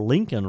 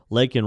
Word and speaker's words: Laken: the president out during his speech Biden then mispronounced Miss Riley's name calling her Lincoln Riley and refer to the killer as an